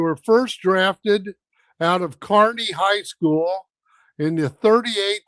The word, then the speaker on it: Kearney: Us Illinois people would pronounce that Kearney or Kearney, but I knew you said Kearney. In Nebraska, they do it because it's an EY rather than NY. Kearney, New Jersey.